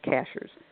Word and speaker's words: Cashiers: ships over cashiers comm cashiers is spelled like a cashier at the grocery store even though they say cashiers sky should silver caches